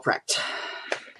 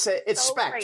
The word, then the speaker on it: Specht: We are pleased to welcome the lovely Specht. Oh, I love the way you mispronounce my last name too. That's awesome. Because no one can get it right, and It's Specht, right?